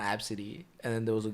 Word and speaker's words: ABCD: lady named her kid Absidy. For what? And it's spelled ABCD. ABCD. And it's Absidy. Absidy.